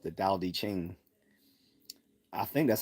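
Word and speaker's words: Tao Te Ching: about dosm called the Dow d Ching I think that's how you pronounce it because it's spelled with a t but from my recollection the t is pronounced more with a D sound pause so if I'm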